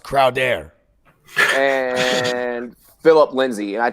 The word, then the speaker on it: Crowder: It's pronounced Crowder.